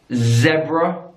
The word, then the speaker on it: zebra: when you've got the word zebra in British English in zebra American English zebra zebra zebra zebra alright there are